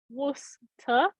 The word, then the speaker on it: Worcester: most people but uh yeah it's Worcester like Worcester why not at all how you would think it would be but okay is that right Worcester Worcester Worcester all right guys we got Paul